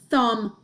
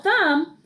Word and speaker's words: thumb: this this is my thumb well I spell thumb th um B hmm thumb I don't say it like that I don't say this is my um I don't say um what's up um I don't